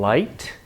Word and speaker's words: light: have that in English if you see a silent gh like in light the word light Li gh T used to be a ha lead is pronounced